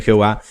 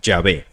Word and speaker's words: Yahvé: eruditos que declaran que la ortografía y pronunciación del nombre Jehová son Sencillamente erróneas y se decantan por la forma yahvé hoy por hoy pocos expertos ponen en duda que esa forma es la única correcta las razones de manera